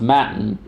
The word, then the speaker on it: Mattan: in a TTA and I always wanted to say Matan but when I was listening to some of the audio about this case it was always pronounced matin so we're gonna go